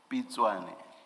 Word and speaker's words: Pitswane: Can you please pronounce it for me, Ms. Pitswane, or how do you pronounce? Sorry. Pitswane. Pitswane. Apologies.